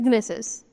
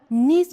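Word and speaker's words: gneiss: Next is गनेसिस। गनेसिस क्या है? गनेसिस को हम क्या नीस प्रोनाउंस करते हैं। ओके? नीस प्रोनाउंस किया जाता है।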